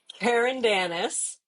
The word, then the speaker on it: Carandanis: It's Karen Danis.